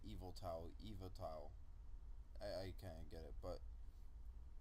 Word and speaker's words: Yveltal: It's well, that's not how you spell it, but I read online that people just say Yveltal.